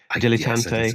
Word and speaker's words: dilettante: Is that how you pronounce the word? Dilettante.